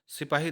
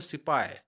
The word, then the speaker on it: सिपाही: हम लोग बोलते हैं लेकिन क्या होता है कि अंग्रेज उसको सिपाई तो एस ई पी ओ वाई सिपाई बोलते हैं तो क्योंकि अंग्रेज जो है ही या कह सकते हैं कि हा व सही सही व लोग नहीं बोल पाते हैं तो इसीलिए सिपाई कहते हैं तो हम लोग